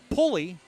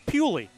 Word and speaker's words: Pewley: He says he doesn't mind being called Pulley, but he says the correct pronunciation is Pewley. So I said, I'm going with Pewley.